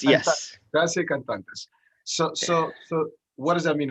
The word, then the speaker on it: Gratia Cantantes: Gratia Cantantes. Yes. Gratia Cantantes.